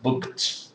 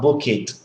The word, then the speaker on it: booked: something like this okay booked with a t okay and then moved